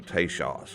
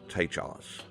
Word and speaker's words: Tejas: and other friendly natives probably the pronunciation was closer to tashas or tachos than to Texas but how did teshos